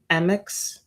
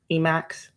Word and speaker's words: Emacs: I would use uh people pronounce it differently but MX or Emacs um but yeah